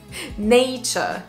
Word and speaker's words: nature: prononcent très très mal alors en fait c'est taaaaaaa nature nature au début on a ne comme hey hey he he c'est pas juste un e c'est he nature nature numéro 7 on